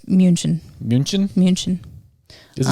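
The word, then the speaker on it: München: munich or in german you don't call munich munich it's munchen munchen munchen does it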